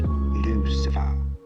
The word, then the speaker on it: Lucifer: my card Lu ciper a small mistake on the part of the printer actually it's pronounced Lucifer oh God so he